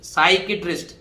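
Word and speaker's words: psychiatrist: छोड़िए अब आ जाइए पी के बाद एस है पी नहीं बोलेगा तो देखो साई किया टिस्ट साइकेट्रिस्ट साइकेट्रिस्ट देखो साई के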